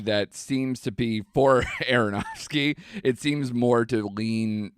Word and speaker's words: Aronofsky: But, you know, Darren Ar- I don't know how to pronounce his last name. Aronofsky.